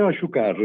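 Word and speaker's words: Achúcarro: Se vuoi ricordare anche dei tuoi maestri, il pianista spagnolo Joakin, non lo facciate pronunciare, Joakin Aciucarro. Joakin, no? Sì, Joakin Asciucarro.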